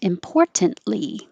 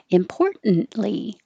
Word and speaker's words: importantly: memoir my personal memoir you can say this with a t and sound very correct importantly most importantly but most people are going to be a little more relaxed and not make the noise and just hold the n importantly importantly and even